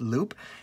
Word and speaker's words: Loupe: to look at is called loop um it looks like it's spelled lupe but what i what i gather is it's uh pronounced loop and it seems like